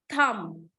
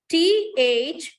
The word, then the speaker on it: thumb: Thumb. Thumb. But B is not having a sound here. We don't say thumb. Thumb, no, it's thumb. Just thumb.